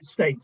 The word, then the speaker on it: Stait: Yeah, Stait. Yeah, straight. Say it as it's spelled.